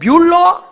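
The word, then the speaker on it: Müller: 발음이 잘 안 돌아가 조지 뮬러 몰러가 아니고 뮬러 그 목사에게 내가 좋은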